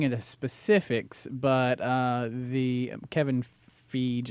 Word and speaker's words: Feige: Yeah, they said they're not getting into specifics, but the Kevin Feige, I'm hoping Feige, I don't know if I'm pronouncing his name it's right. Feige, actually. Feige, okay, he's the Marvel Studios president.